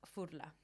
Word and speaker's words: Furla: Furla, as people say. How do you say it? Fudler.